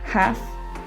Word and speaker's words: half: um the vowels a o or u precede the l sound it is very commonly not pronounced for example calf half and should and also our first